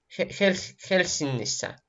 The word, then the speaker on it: Helsingissä: Да, только вот НГ, они читаются как носовой. Хеннисса. Хельсинисса. Носовое. НГ как в английском читается.